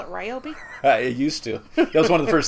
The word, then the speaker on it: Ryobi: Don't we normally call it Ryobi? I used to. That was one of the first things they trained me on. Okay, here's how we pronounce our company's name. It's Ryobi.